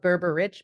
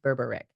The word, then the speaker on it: Berberich: spell it Berber rich but pronounced Berber Rick that's how you know hello and welcome to